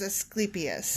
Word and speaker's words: Asclepius: god he was did you look after this pronunciation correctly yes i looked it up and it is asclepius just curious yeah so if i'm saying it